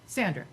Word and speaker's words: Sandra: Sandra or Sandra? Sandra. Okay, I always say it wrong, Sandra.